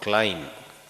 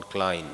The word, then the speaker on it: Klein: European saint called Jean Klein Klein k-l-e-i-n he came to India